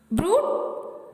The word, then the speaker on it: brood: The letter group OOD is mostly pronounced with a sharp U. Exceptions are brood, food and mood.